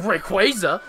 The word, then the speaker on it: Rayquaza: Yes, you instead of Rayquaza.